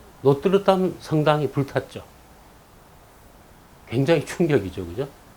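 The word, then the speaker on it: Notre-Dame: 우리 뭐 찾아보면 노트르담이라고 돼 있지만 프랑스 발음 들어보면 뭐 노트담 뭐 이렇게 R 발음을 흘러내서 그냥 노트담 뭐 이렇게 내죠.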